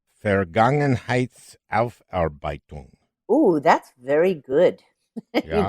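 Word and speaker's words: Vergangenheitsaufarbeitung: the book uh let's see if i can pronounce it correctly fair gangnam heights alf arbeitum oh that's very good you got it right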